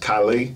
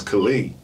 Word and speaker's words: Khali: Tyson horrible mispronunciations um most commonly my name is mispronounced Kylie I feel like yo Kylie what's up but it's Kali but so many people